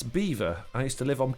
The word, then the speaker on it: Belvoir: Beaver like the animal. That's how it's pronounced.